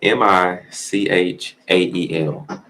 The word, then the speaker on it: Michael: way and it's spelled m i c h a e l i pronounce it Michael that's how I've been hearing it pretty much forever almost but due to